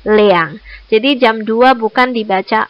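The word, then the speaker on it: 两: kata2 untuk jam itu tidak menggunakan area tetapi menggunakan kata Leang jadi jam 02.00 Bukan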